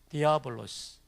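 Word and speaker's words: διάβολος: 발음표를 써드릴게요. 델타고요, 이오타고, 알파, 베타, 오미크론, 람다, 오미크론, 시그마입니다. 디아볼로스.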